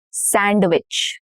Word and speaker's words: sandwich: We are shortening the number of syllables here. If you notice, handsome, not handsome, no duh. Handsome. Sandwich. Not sandwich.